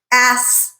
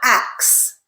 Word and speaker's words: ask: Look at the sequence of the letters in that word. S, then k. So s before k. Ask, ask, not ax.